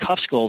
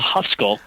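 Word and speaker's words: Khövsgöl: And speaking of Lake Hufskull, am I saying it correctly? Hufskull. Hufskull. Yes.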